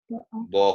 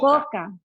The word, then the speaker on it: boca: Now remember, how do we pronounce the O? Boca. Boca. Boca. Boca. Yeah, so really make the O kind of shape.